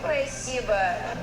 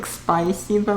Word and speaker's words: спасибо: The one thing was that she said spasiba, it sounded almost like spasiba with an extra y. in there instead of спасибо, but overall very clear, very good.